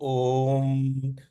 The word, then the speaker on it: ओम: जैसा आवाज होता है इसलिए जब हम बोलते हैं अ उ ओम को उच्चारण करते हैं तो ओ तो क्या बोलते ओ ओ तो ओम बोलते वो ओ शब्द नहीं है वो अ उ शब्द है लेकिन अ और उ मिलके ओ बन जाता है तो हमलोग